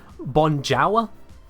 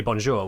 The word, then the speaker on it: bonjour: same way as you wouldn't read bonjour and go oh uh bonjwa CU it's quite clearly a French word you say bonjour when you read it